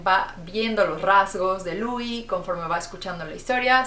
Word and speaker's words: Louis: Nos vamos a encontrar con un personaje llamado Louis, se escribe Louis, pero como es francés, ¿verdad?